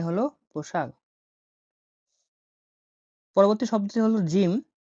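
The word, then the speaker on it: ج: পরবর্তী শব্দটি হলো জিম। জিম উচ্চারণ হয়ে থাকে জ এর মতো।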